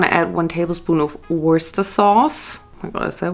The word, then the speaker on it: Worcestershire: next you're going to add one tablespoon of worcester sauce oh my gosh that way how you pronounce it worcestershire so one tablespoon of worcestershire oh my gosh